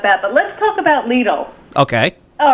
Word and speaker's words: Lidl: Talking about the news that we broke on Friday that the German supermarket company Lidl, which rhymes with Beetle, is seeking to open a location at the Tapan Plaza Shopping Center on Route 303.